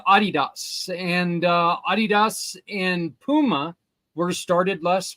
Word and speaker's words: Adidas: company aha even though it's called it's not Adidas it's Adidas but oh okay yeah it's actually pronounced Adidas and Puma were started less by the same